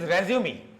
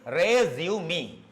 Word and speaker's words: resume: This is resume. Correct pronunciation is resume. It's not resume. Okay, this is not resume. The correct pronunciation is one syllable re, another syllable zu, another syllable me.